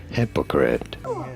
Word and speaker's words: hypocrite: you say it hypocrite you do want to stress on the first syllable hypocrite hypocrite here we go